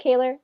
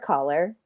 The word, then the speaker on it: Kaylor: My name is Kaylor and many many times I get called Kyra Collar.